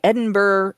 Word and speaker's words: Edinburgh: Um, first staged at the Edinburgh, it's Ed Edinburgh.